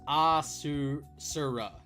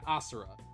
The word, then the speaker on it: Asura: Pronounced Asura. Yeah, Asura.